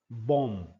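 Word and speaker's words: bomb: बम शब्द में आखिरी वाला ब साइलेंट होता है और उसे बोला जाता है बम।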